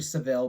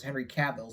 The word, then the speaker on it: Cavill: his last name correctly in my earlier videos i kept pronouncing henry seville but it's henry cavill so i once again